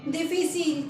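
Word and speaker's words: difficile: तो इसे हम पढ़ेंगे डिफिसिल। क्या बोलेंगे? डिफिसिल। और ये है गाइस इसकी प्रोनाउंसिएशन, ये है एग्जैक्ट इसका मीनिंग। इंग्लिश में हम डिफिकल्ट बोलते हैं, लेकिन डिफिकल्ट को फ्रेंच में बोलते हैं डिफिसिल।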